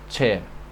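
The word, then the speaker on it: ç: chair this is chair it's not J it's Che this is with this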